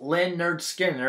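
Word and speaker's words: Lynyrd Skynyrd: albums starting with uh pronounced len nerd skinner it's even got the pronunciation on the front there and i really like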